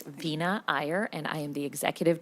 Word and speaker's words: Veena Iyer: I mispronounce your name, Vina Ayer. Welcome to the committee and please uh state your name for the record and begin. Thank you, chair. The pronunciation was perfect. It's Vina Ayer and I am the